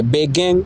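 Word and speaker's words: Beijing: puis actuel capital là c'est beging prononcer comme péquin en tout cas c'est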